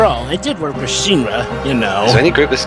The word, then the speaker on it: Shinra: it did work with shinra you know any group this guy hasn't it's pronounced shiro uh the plastic palamako